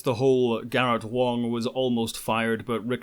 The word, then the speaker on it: Wang: am not pronouncing garrett wong's name wrong in mandarin even though the anglicized spelling has an a the surname is not wang it's wong i got so many